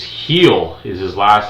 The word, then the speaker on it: Gil: It's Heel is his last name. I kept calling him Gil, so it's heel. The G is pronounced as an H.